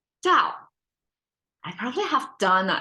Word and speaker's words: 道: Dao is the contemporary Chinese simplified version of pronouncing it, but I guess Tao can make sense as well.